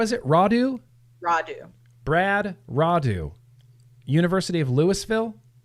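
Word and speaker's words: Rodu: Roudou. Brad Roudou, University of Louisville. Yep. This is Brad Roudou.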